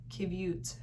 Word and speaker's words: qiviut: It's called Qiviut, I think is how you pronounce it.